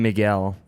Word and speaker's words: Miguel: Miguel Ferreira. Jared. Miguel. Miguel. Oh, so they did the phonetic It's probably spelling. Miguel.